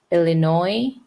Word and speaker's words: Illinois: ID Illinois IL again Illinois this is silent s Indiana I n Iowa